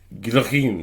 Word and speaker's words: Guillotin: So just pronounce that name again for me. Joseph Ignace Guillotine.